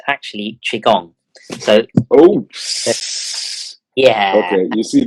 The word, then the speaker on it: Qigong: Qigong The reason why you pronounce it as Qigong is the QI. You don't pronounce it with the Q.